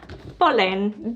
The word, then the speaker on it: Polene: So this is my first bag and the brand is Polene. This is how I think you pronounce it. That's how other people said it on the internet, so it must be true.